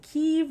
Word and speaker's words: Kyiv: were mentioning because i was like do you pronounce it kiev do you pronounce it kiev right so the